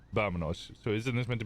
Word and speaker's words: vámonos: It's with a V, but the way that you pronounce the V is like a soft V, so it would be Vámonos.